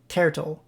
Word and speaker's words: Tertle: Turtle, but the first syllable, ter from Terraria, so Tertle.